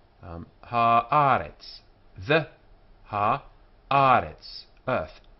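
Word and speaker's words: הָאָרֶץ: Haaretz. This is easier for an English person to say, because the accents on the penult here. Haaretz. The Haaretz. Earth. Haaretz.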